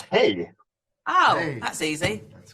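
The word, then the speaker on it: hej: How do you say hi in Swedish? It's hey.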